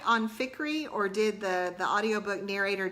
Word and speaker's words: Fikry: And I didn't look it up or anything, but in my head the whole time I said AJ Fikry, like rhyming with hickory, if that makes sense.